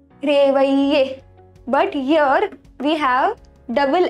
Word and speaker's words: réveiller: So when we have double L between I and E, it is ye. Réveiller.